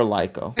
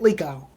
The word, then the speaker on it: Liko: it's the shot when how do you pronounce her name? Liko or Lyko? It is Liko.